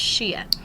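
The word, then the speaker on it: Xia: Age was with the Shia Dynasty um that's x i a is pronounced Shia and that was 2200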